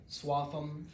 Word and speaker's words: Swaffham: And this all takes place in a working-class small town in Massachusetts that is fictionally known as Swaffham, one of the ham towns with a silent H.